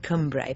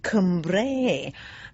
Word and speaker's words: Cumbrae: island in the mouth of a tribe called Cumbre for those of you who don't know it I should I say Cumbrae as the locals would have us pronounce it